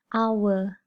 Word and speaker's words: hour: you pronoun the word it is silent h so we say n hour we don't say n